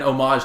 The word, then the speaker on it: homage: be a like an homage to 80s slashers, which is weird because the Strangers homage. That's spelled with an H at the beginning, but it doesn't. It's silent.